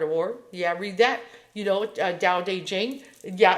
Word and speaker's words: Tao Te Ching: Tao Te Ching. Yeah, it's pronounced like that.